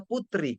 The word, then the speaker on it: puteri: Kecuali misalkan puteri, puteri kan tulisannya tapi bacanya putri.